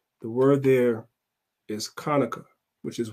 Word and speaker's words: Hanukkah: chapter 7 verse 9 the word there is Konica which is how you say Hanukkah that's why